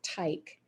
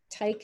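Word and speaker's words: Teich: year old curt otto tyke tyke is spelled t-e-i-c-h he was the founder of the curt tyke company which was operated in chicago from 1898 to 1978.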